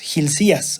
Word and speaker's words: Hilcías: hace, es que manda a Hilcías, así se pronuncia, Hilcías, que era el sumo sacerdote, toca restaurar, renovar, reparar, poner el templo como se debe.